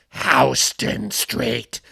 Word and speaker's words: Houston Street: in the East Village and you're like, oh, Houston Street. And some snide New Yorker is like, it's pronounced Houston Street.